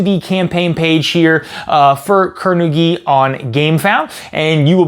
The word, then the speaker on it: Kur-Nu-Gi: It does have hyphens in it, so I do believe it is pronounced Kur-Nu-Gi.